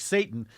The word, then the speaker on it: seitan: that what's it pronounce seitan or it sounds like Satan uh I've tried that